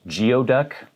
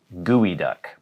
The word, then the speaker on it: geoduck: look at this word you might think it's pronounced geoduck sounds like a pokemon or something but it's actually pronounced gooey duck i don't know why but that's how it's